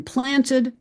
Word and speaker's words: planted: In planted, just as in fishes, the E is pronounced as that neutral schwa, but in played and tried and kissed, we do not pronounce the E.